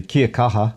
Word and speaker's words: Kia kaha: Kia kaha.